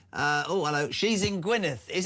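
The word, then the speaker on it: Gwynedd: She's in Gwyneth. Is how do you say that Christian? Oh, Gwyneith.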